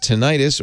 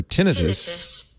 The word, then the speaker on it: tinnitus: is pronounced tinnitus or tinnitus yeah both tinnitus this is the national institute that's british hold on to the american tinnitus well according to the national institutes of health it's pronounced both ways and i think that's